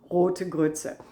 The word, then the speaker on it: Rote Grütze: I know, for Americans it's terrible to pronounce, Rote Grütze.